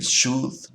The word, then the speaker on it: should: Nos damos cuenta también que el should y would tienen una letra L en su nombre, pero esa L no se pronuncia. No decimos would, decimos would, no decimos should, decimos should.